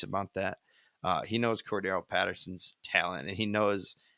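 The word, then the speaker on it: Cordarrelle: Cordo Patterson excuse me I think I think Cordo is the correct pronunciation but but you have arguably I would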